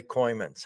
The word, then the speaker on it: Kooymans: Welcome today, Kymans.